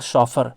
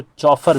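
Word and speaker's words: chauffeur: Next आपका शॉफर। शॉफर बोलेंगे, इसको प्रोनाउंस करेंगे, लेकिन इसको चॉफर भी पढ़ सकते हो।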